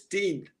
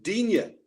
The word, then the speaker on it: Digne: Luca Dean, and in France, in the French language, it's Dean. But even when he had to perform in front of the camera, as Jim P alluded to, he even said Digne to suit the British way of pronouncing his name.